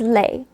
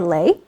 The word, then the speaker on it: lait: So we're going to take latte, because it kind of sounds like lait, and it also, spelling is also similar with the t in the end. So latte for lait, and lait is milk.